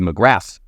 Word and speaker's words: McGrath: McGrath 3 votes. That's how you pronounce that name.